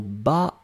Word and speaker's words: bats: S, hein, je m'en bats l'œil. Bien sûr, on ne prononce pas le T, bien sûr, on ne prononce pas le S, mais ça doit être là si on veut écrire correctement.